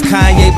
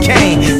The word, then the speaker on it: Kanye: Now all I need is y'all to pronounce my name is Kanye, but some of my plastics still say Kane.